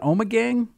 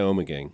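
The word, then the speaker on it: Ommegang: if you will from you pronounce an omec gang oh yeah oh my gang I'm a gang which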